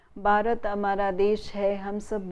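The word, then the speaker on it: भारत: that is why when new learners of Hindi from the south, when they pronounce these sounds, they tend to confuse one sound with the other. So, they would say instead of Bharat, they would say Bharat.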